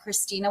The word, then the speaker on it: Kristina: social media you can see that my name is spelled a little differently but Christina with a K b o u t